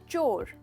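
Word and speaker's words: chore: तो इसका मतलब, इसका प्रोनाउंसिएशन है चोर। चोर, ये जनरली लोग कोर कहते हैं जो गलत है। चोर इज द राइट प्रोनाउंसिएशन।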